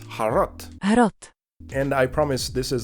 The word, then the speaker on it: HROT: next game is harot well actually it's pronounced as har har and I promise this